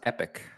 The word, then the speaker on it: Epoch: Lost Epoch is coming to PlayStation 5. Uh, it's a Fantasy X and RPG coming along with a first major expansion. No release date. I believe it's pronounced Epic.